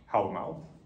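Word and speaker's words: Hávamál: So in the Poetic Edda, we have a poem called Hallamál, or if you prefer modern Icelandic pronunciation, as most of the people who make fun of me on the internet do, Hallamál.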